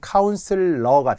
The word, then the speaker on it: 카운슬러: 그런 사람은 카운슬러가 됩니다. 카운셀러라고 많이 하잖아요. 카운슬러. 카운슬링. 이게 원래 스펠링 원래 발음이라서 그래요.